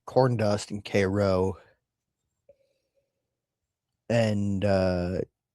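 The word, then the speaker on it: Karo: I think it's pronounced kro. K a r o less less tanic spice than you would expect.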